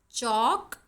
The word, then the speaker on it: chalk: Chalk, L is silent in chalk.